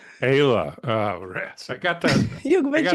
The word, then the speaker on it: Eyla: And today, and I'm going to try to get the name correctly pronounced. That's always a challenge. But a friend who I've known for a while, Eyla. Is that close? Eyla. Ayla.